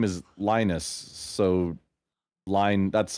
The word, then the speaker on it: Linus: I have an argument with the fact that you say Linux. Started watching. I mean, his name is Linus, but I understand okay.